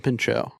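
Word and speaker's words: Pinchot: What's the real pronunciation that nobody will ever accept? Uh, Bronson Pincho.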